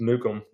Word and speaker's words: Nukem: But uh yeah, so we actually pronounce it the same way. Uh it's just Nukem.